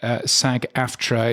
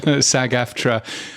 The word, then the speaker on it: SAG-AFTRA: my car is uh is Sag aftra or sagafra as I believe uh I've heard it pronounced but anyway um that